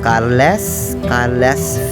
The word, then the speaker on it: Carles: de Maria here in Cales. I know I can pronounce it better in a very own dialect, or we call it Carles, Philippines, Carles, Iloilo.